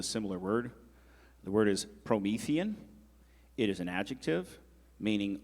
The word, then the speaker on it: Promethean: Promethean. It could also be pronounced Promethean.